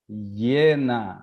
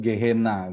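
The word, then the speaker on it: γέεννα: Nah, neraka itu dalam bahasa Yunaninya Yena. Yena, biasa orang sebut Gehenna gitu ya, tapi sebenarnya orang Yunani bacanya Yena.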